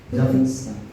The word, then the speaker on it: Puritans: You know how you pronounce? Puritans.